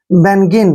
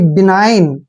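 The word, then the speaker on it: benign: ई एन आई जी एन आप इसको पढ़ेंगे बनन जो कि गलत है देखिए इसका वर्ड इसका उच्चारण कैसे करना है बीई को हम बी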